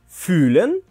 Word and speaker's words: fühlen: Fühlen и fühlen. Глагол fühlen – это чувствовать или ощущать. Именно его мы произносим с долгим звуком «ü».